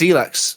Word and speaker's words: Elex: It is Elex.